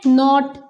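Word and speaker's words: knot: ठीक है नेक्स्ट है नॉट यानी कि गाट टाई द नॉट केयरफुली यहां पर भी नॉट ही बोल रहे हम इसको इसका के साइलेंट हो गया और बन गया नॉट ठीक है बट इस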